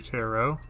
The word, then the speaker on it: tarot: where i call them tarot cards by mistake and it's actually tarot like arrow you know it's spelled like carrot it's pronounced like an arrow super secret room this